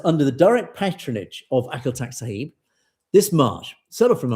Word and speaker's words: Akal Takht: Sahib Ji established the Akal Takht, sorry, I'm mispronounced this, apologies to Amrik, who kindly corrected my pronunciation, the Akal Takht.